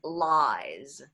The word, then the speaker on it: lies: O sea, por ejemplo, en inglés, piojo es lice. Es pronunciación S, sonido de S. Pero mentiras en plural es lies. Entonces se afectó que alargamos el sonido de esa vocal, que es I, y el sonido de S y Z se intercambió.